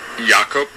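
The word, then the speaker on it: Jakob: name really pronounced so my first name is pronounced yakob and the last name is a little bit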